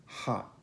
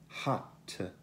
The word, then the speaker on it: hot: La T contenuta alla fine di una parola non viene pronunciata come nella parola hot. Hot. Non è hot oppure hot, ma hot.